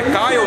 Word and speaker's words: Kyle: E eu estou aqui do lado de mais uma fera do helimodelismo mundial, o Kyle Stacey, que agora aprendi que é Kyle mesmo que pronuncia, agora aprendi a pronunciar correto.